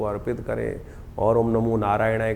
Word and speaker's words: नारायणाय: करने का प्रयास करें मंत्र का उच्चारण बिल्कुल सही होना चाहिए कई बार लोग मंत्र का जप करते करते थोड़ी सी गलती कर देते हैं नारायणाय नारायण नारायण नारायणाय नारायण नाराय नहीं है नारायणाय ओम नमो नारायणाय